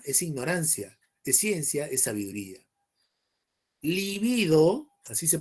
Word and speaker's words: libido: Libido, así se pronuncia.